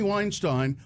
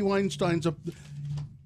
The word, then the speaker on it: Weinstein: And then the host would say again, oh, Harvey Weinstein, what about Harvey Weinstein's... It's Weinstein, and the damn host should listen to his guest and think, oh, maybe I'm saying it wrong, and fix it.